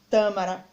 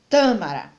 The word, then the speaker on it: tâmara: Tâmara, ele tem a sílaba mais forte na antepenúltima e é acentuada, pois toda palavra proparoxítona é acentuada. Então, eu sei que a tâmara é uma palavra proparoxítona.